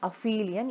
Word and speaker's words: aphelion: So the distance of the Earth, suppose if you have the Earth here, this position is called aphelion. So you have to pronounce it as aphelion, A-P-H-E-L-I-O-N.